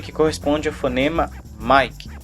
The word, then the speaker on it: Mike: m que corresponda fonema mike sempre lembrando que mick não é me que nem mico como também já vi por aí logo após isso nós